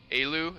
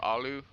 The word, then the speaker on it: aloo: pierogi and a knish elu is how it's pronounced or Aloo time for sieve updates